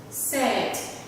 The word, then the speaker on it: said: Cho nên ở đây là mình chỉ giới thiệu hai âm này mà thôi, ra khó phát âm hơn và dễ nhầm hơn. So we have the word said, said, said, right?